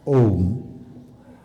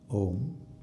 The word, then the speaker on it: Om: So, the chanting of chanting of Om with due stress on the last syllable Ma is a great technique